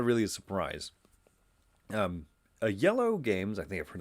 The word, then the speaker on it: Iello: games by the company yellow this is one of those companies that has a strange name and so sometimes people savagely mispronounce them but it should be yellow right just like the color just like they're yeah